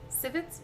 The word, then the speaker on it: civet: coffee beans plucked from civets civets that's how you say it Civic species this